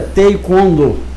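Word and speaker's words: 태권도: Que até o mestre me orientou que é Taekwondo e não Taekwondo, como todo mundo fala, não é isso, Marcelo? A pronúncia correta é Taekwondo.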